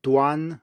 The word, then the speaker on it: duan: should be pretty clear if you contrast the g-n we just had now with duan which is spelled d-u-a-n and here we have a normal an so it should be